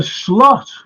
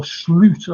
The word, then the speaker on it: Slot: come into to this for slot or slute as he should be called that's the way he his name's pronounced by the way I'm